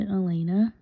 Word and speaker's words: Alaina: I have two co-workers, Ven and Elena. Elena is spelled Alaina.